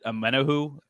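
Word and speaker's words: Omenihu: Amenahu?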